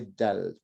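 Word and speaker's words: دال: Okay, tell me where you put your tongue when you say dal. Dal. So it's touching the top of it's touching the back of my top teeth. Very good. Okay, so it's actually dal, right? So it's just the top. Da. Now don't put your tongue too far forward. Put it slightly back, so it's like the where your teeth meets your gums. Okay. Right? So it's actually on the gum, not on the teeth.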